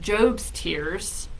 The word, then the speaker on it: Job's tears: bile this big of job's tears that's how you pronounce it uh it's job from the Bible um we don't have